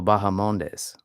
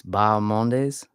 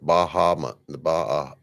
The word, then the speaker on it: Bahamondes: It's Bahamondes? Yeah. So, yeah, that could just be like it's a soft H because it's a Spanish pronunciation.